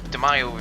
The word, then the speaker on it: Demio: So the first race is of course the daily race A, and the car I chose was the Mazda DeMio, or DeMio if you pronounce it, which looks to be the OP car to drive around KL2.